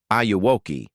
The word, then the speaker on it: Auoki: The name is a phonetic spin on the line, "Annie, are you okay?" from Michael Jackson's Smooth Criminal, which in Spanish pronunciation sounds like, "Auoki."